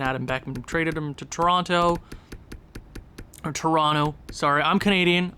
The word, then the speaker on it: Toronto: Traded him to Toronto. Sorry, I'm Canadian. I just sometimes pronounce the second T. I know you're not supposed to, but I do.